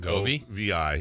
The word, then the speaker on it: Bongiovi: And then I think as we're finishing up this discussion on Bobby Brown, wait, it's spelled with a G? Yeah, Bongovi-vi. Yeah, but I think it was pronounced Bon Jovi.